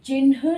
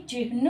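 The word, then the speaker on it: चिह्न: से लिखी जाती है ये चिन्ह नहीं चिन्न होता है यानी कि इसमें ह आधा लगता है ना कि जब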